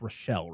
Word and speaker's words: Rochelle: And you find out, like, so you meet the trio of Nancy Fruzbalk, Bonnie, Nev Campbell, and it's Rochelle, right? That's how you say it? Rochelle, yeah.